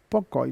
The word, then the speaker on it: Pocoit: Pocoit, lo pronuncié mal antes, entonces Federico por la cucaracha es esto, me dijo de todo.